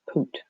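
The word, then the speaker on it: путь: So it comes from the word put, which is pronounced poot, right? Like Putin.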